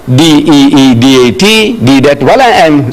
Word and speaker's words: Deedat: She says, spell it. So I started spelling it, A-H-M-E-D, Ahmad, D-E-E-D-A-T, Deedat.